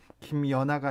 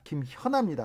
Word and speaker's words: 김현아: 1457님께서 주 진행자님 김연아가 아니라 김현아입니다. 발음 좀 똑바로 하세요. 확실히 하세요. 김현아입니다.